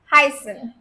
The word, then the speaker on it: heißen: Heißen, heißen verb. So this S set over here represents double S. Okay, this is called S set. It represents double S and definitely it has that S sound only.